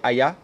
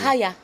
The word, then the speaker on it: Haya: C'est Haya ou bien Aya? Comment on prononce ça? C'est Haya. C'est Haya.